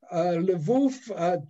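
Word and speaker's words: Lwów: little bit more about levov it's pronounced l-l-w-o-w yes uh it now is uh lev it's uh it's now in the ukraine there was a question as to whether levouf to use the polish name should be on which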